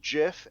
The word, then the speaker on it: GIF: if you look at the person who invented the the gif he insists that it's pronounced jiff and we've all decided